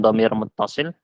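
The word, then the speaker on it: ضمير متصل: Ini bacanya dhamir muttasil.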